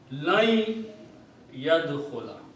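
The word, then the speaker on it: لن يدخل: That if you combine, then this noon has to be pronounced as noon gunna. Lan yadkhula. Okay? Separated is a lan, but when you read, then the sound of noon will become noon gunna, and ya will be dominated. So you pronounce lan yadkhula. Meaning does not change. This is the correct way of pronunciation.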